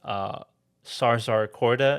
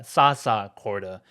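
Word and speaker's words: Zsa-zsa Korda: He plays Sarzar Korda, if I'm pronouncing that correctly. Yeah, Sasa Korda. My mistake.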